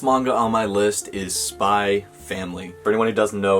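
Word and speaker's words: Spy × Family: on my list is spy family for anyone who doesn't know if there's an x in the title you just don't pronounce it so it's not spy x family it's just spy family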